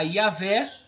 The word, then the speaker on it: Yahvé: Que aqui está Yahvé, tá? É bem interessante esse início da pronúncia, foi colocado com I, mas não vejo problema nenhum, muitos tradutores colocam, ou Y, mas a fonética não muda, Iá.